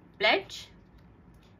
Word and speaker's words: pledge: rules for letter d it is always silent when it comes before g examples pledge h batch happy parenting